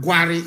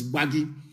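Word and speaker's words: Gbagyi: they call them gwari it is not war it is bhagi that is the current pronunciation because in aosa intonation they cannot pronounce bhagi that was why they named it worry it is not worry it is gba gi very very important that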